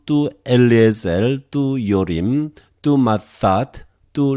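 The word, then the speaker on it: Ματθάτ: Tu mathat, one more time. Tu theta, we pronounce just one theta. Mathat.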